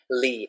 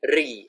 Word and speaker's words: Lee: Lee. Some people say my name Ri. I've heard it. And they even write with R.